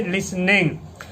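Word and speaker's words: listening: लिसनिंग देखो, ये लिसनिंग वही है जो यहाँ पे था, तो यानी कि यहाँ पे भी टी क्या होगा, साइलेंट होगा। समझ गए, लिसनिंग।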